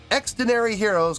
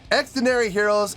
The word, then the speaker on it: Xdinary Heroes: labels in South Korea their name extenary Heroes is a shortened form of extraordinary Heroes okay so I have